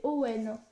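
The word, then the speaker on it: Eoin: Donc c'est Warp, l'assassin malgré lui, de Ewan, est prononcé Ewan, oui c'est marqué le marque à l'intérieur. Prononcé Owen.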